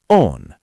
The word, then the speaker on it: oon: Mina becomes ma. Olen becomes on.